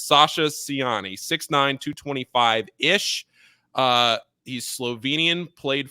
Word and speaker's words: Sasa Ciani: a Slovenian big man Sasha siani is how I was told at least that we were pronouncing this I know Tom Eiser is probably listening to this podcast so Tom if I got it wrong that's on you it's Sasha siani 69225-ish uh he's Slovenian